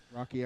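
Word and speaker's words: Roky: uh Return of the Living Dead rookie Erickson Rocky Erickson is that how you pronounce It Rocky yeah okay Rocky Erickson yeah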